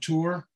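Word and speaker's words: Tor: names commission and there is a Townsend called tour uh um in the duo civil Parish in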